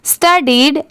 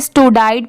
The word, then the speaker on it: studied: स्टडीड, STUDIED, इसे क्या पढ़ेंगे? स्टडीड। बहुत सारे लोगों को इसमें भी कंफ्यूजन होता है, इसे स्टूडाइड पढ़ते हैं, बट इसकी प्रोनाउंसिएशन क्या है? स्टडीड, ठीक है?